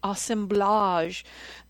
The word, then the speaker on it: assemblage: or what he called i'll give it the french pronunciation the assemblage of factors that allowed